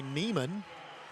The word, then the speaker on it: Neiman: right hitting air by Neiman or nyman it looks like Neiman but they pronounce it nyman in Aberdeen two nothing here on